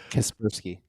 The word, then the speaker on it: Kaspersky: Because like how it's written right now within the bill, like Kaspersky antivirus, I'm probably gonna mispronounce it, but that Kaspersky.